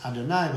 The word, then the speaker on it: Adonai: the ineffable name this this tetraat pronounced as Adonai because Hashem Adon Master